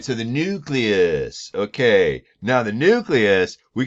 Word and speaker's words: nucleus: Nucleus. Again, I've mentioned this before. It's not pronounced nucleus, it's nucleus. Oh, rats, my, what do you call it?